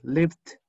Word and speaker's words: lived: Al final te queda una D que te va a cortar el sonido, pero muy suave.